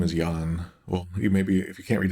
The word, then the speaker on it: Yan: As we can see, this guy's name is Yan.